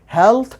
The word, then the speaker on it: healthy: Phonetic symbols के द्वारा decide किया गया है हेल्थ, और इसके राइट प्रोनाउंसिएशन हेल्दी नहीं होती।